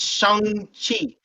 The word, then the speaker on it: Shang-Chi: don't know how to say his name, it's Shang-Chi. So That's what I Shang, said. okay? No, you said it. I'm just saying for the other uncultured people saying Shang-Chi. No, it's Shang, okay? Shang-Chi, all right?